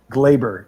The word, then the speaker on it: Gleyber: Gleyber, excuse me.